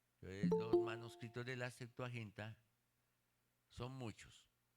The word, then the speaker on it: Septuaginta: La Septuaginta se escribe como séptimo, pero se le pone Septuaginta. Septuaginta.